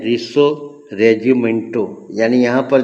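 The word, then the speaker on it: Risorgimento: तो इसको कहते हैं रिसो रेजिमेंटो।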